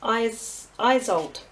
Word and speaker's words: Isolde: Now, I know you're probably all wanting to just jump straight into this this card in the middle, and we pronounce her name as Isolde.